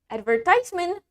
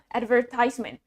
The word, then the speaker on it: advertisement: Advertisement means iklan, advertisement. In British accent, the stress is on the second syllable, ver. And in American accent, the stress is in the first syllable. Advertisement, advertisement. Okay, the last word we have hospitable, hospitable.